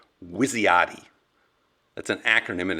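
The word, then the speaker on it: WYSIATI: of the cognitive bias that Daniel Conan called wisti that's an acronym and it's spelled w y s i a a TI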